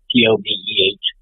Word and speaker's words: Tove: Tove is how they say it in Norway. Tobeh.